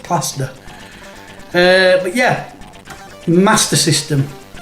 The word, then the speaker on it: Master System: plaster uh but yeah master system there's no iron it's not mars so from now on nathan griffo please pronounce it the correct way uh that is it